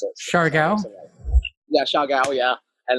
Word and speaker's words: Siargao: I don't know how you pronounce it. Siargao? Yeah, Siargao, yeah.